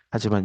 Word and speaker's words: h: 그다음에 플랑크 상수값 하라고 읽죠. H 아닙니다. 하.